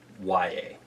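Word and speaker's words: Yahya: There was an Iowa football player who spelled his first name the same way, and he pronounced his first name Y-A. So I'm just going to go with that, Y.A.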